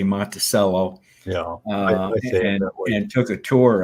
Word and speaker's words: Monticello: Well, from what I understand, we pronounce it Monticello. That's the county seat where I grew up. But Monticello is evidently how they pronounce it, or maybe the Italians pronounce it. I'm not sure, because it comes from an Italian, if I recall correctly. It's Italian for little mountain.